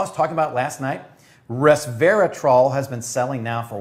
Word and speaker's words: resveratrol: this is and he's waiting for me to pronounce the name it is the 100 percent pure reservatrol did i get it right resveratrol no i did not get it right so